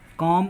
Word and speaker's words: calm: बाद अगर यम आए, जब यल के बाद यम आता है तो यल का उच्चारण नहीं होता है। जैसे पॉम, PALM, LM, पॉम, कॉम, कॉमन शांति, CALM, शांति, और बम, बम मर रहा हम, BALM।